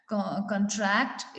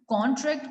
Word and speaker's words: contract: कॉन्ट्रैक्ट इज the word, जब हम कॉन्ट्रैक्ट बोल रहे हैं तो वो नाउन है, जब हम कॉन्ट्रैक्ट बोल रहे हैं तो वो वर्ब है, ठीक है।